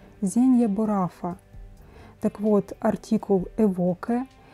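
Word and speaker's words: Zegna Baruffa: И правильно произносить на оригинальном языке Зенья Бурафа.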